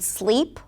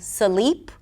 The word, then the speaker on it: sleep: And then you may see situations where the word 'sleep' might be pronounced as a 'suh-leep' - with a schwa in the middle, or 'uh-sleep'. Or even dropping consonants, and then the word 'cost' may sound like 'cos'.